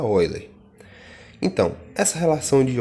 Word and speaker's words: Euler: respeito da relação de euler tá aqui se inscreve eu ler mas a gente pronuncia oi lê então essa relação de